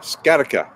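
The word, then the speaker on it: sciatica: with ted willicki see if that helps ah scarica thank you i love this because people know how to pronounce words i do not scattica i will try and remember that yeah okay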